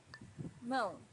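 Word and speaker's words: mão: was to visit Brazil Moon hands most a little bit difficult to pronounce for beginners because of this nasal sound um but try to practice it and you'll get better and better each time MO hour but also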